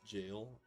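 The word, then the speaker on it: Gyr: Uh, the zone they're in is called Gal, pronounced jail, and it's where you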